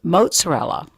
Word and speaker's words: mozzarella: were talking about this earlier I would say mozzarella but you say it mozzarella and that's correct that's the way we say